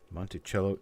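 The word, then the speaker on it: Monticello: special got nothing though according to the park there it's pronounced CH so Montello Monte cello it will be Monte cello it will be Mark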